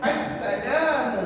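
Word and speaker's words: السلام: Assalamu sebut assalam.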